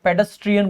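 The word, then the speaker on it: pedestrian: आपको ध्यान रखना है टी आर आई एन होता है पेडस्ट्रियन बोलते हैं इसको पेडस्ट्रियन ट्रेन नहीं बोलना है पेडस्ट्रियन तो टी आर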